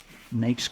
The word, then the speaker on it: NAICS: NAICS You codes.